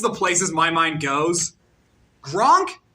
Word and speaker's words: Gronk: Gronk rhymes with Kronk.